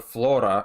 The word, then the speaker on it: Flora: This is Flora, or Flora, if you could roll your R's.